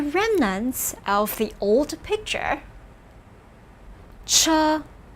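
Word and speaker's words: 车: make out the remnants of the old picture cha pronounce with me cha this means vehicle or wagon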